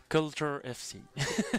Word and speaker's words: Culture: Alors, on le prononce à la française, culture, mais en anglais, ça se dit comment? Culture FC.